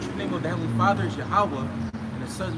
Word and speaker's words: Yahweh: in the Torah, when you read the name of God or the Lord, it's not Jehovah, it's Yahweh. Yah. Like they say, hallelujah. Yeah. Yahweh. Yeah. That's how you would pronounce it.